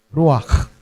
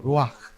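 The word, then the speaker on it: רוּחַ: Ruak ako humalak no. Ganun talaga yung pronunciation niyan sa Hebrew. Roak.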